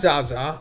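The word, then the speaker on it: ザザ: So the Rain God Zaza, onomatopoeia for rain sound, pronounced Zaza in Japanese, is a long-haired woman with 4 arms.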